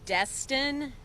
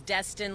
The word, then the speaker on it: Destin: and he'll sure officer destined it is destined like the city in Florida d est I in